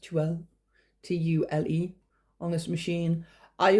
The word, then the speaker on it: tulle: I've sewn fine silk and tulle, I think it's pronounced tulle, T-U-L-E, on this machine.